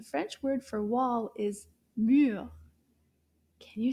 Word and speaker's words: mur: Now let's clap to see combien de syllabes dans le mot mur. Mur. Wow. Did you see that? That's a very short word. Mur. Une syllabe. Juste une syllabe.